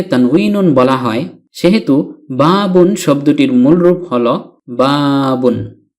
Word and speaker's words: بَابٌ: যেহেতু নুন সাকিন কে তানউইনুন বলা হয় সেহেতু বাবুন শব্দটির মূল রূপ হল বাবুন বা যোগ ফাতহাতুন